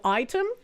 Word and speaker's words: Aitum: Item, no, I'm not pronouncing it item, and I'm saying Item because it's AITUM.